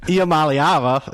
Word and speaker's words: Iamaleava: Iamaleava, it does roll off the tongue, and actually it's pronounced exactly how it's spelled, so that helps too.